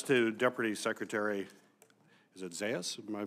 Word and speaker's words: Zais: administration, and that's to Deputy Secretary, is it Zais? Am I pronouncing? Zais.